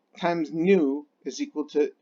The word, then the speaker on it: nu: Nu, I'll put it as, let me go ahead and get rid of that here. Nu, you pronounce it N-U, nu, is frequency.